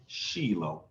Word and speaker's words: Shiloh: of shiloh shiloh or shiloh depending on how you pronounce it in hebrew it's sheelo oh he's going to